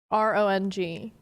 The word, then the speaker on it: wrong: RONG. There's a W in wrong too. Silent.